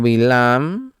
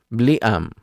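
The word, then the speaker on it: בלעם: El nombre hebreo Bilam se escribe con las letras Bet, Lamet, Ayin y Men. Como el texto original no tiene vocales, es posible entender su nombre también como Bliam, que significa sin pueblo.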